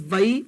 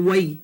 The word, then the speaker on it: wai: word for water is vai or wai. Either way.